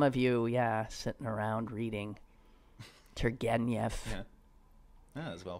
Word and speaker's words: Turgenev: So there's some of you sitting around reading Turgenev. That's well pronounced.